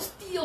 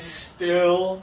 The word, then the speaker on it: still: not stopped it is still cloudy outside right now it is still cloudy it was cloudy this morning it's still cloudy not steal' cloudy so we have to do something different so think about your front